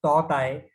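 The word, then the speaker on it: Tauktae: The Toktai is pronounced as Totai, and in Burmese language, it means gecko, highly vocal lizard.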